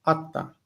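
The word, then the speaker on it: אתה: Atta. Stress on the first of the word.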